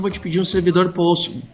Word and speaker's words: Postgres: Postgres, banco de dados Ah. Postgres. Tá bom, eu não tava entendendo a pronúncia só. O Postgre, Tá, né, que eles chamam? É o Postgres, isso.